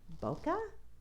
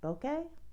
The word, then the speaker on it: bokeh: this month's technique i don't know how to pronounce that um bokeh bokeh b-o-k-e-h okay and when i open this up